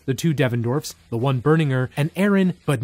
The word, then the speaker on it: Berninger: That's how you pronounce his last name. I'm Matt Berninger from The National. I've been saying Berninger. You have? That's wrong. It's Berninger.